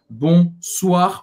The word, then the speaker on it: bonsoir: vez uma palavra só bonsoir o i tem o som da do do como o assim b bonsoir e aqui mons a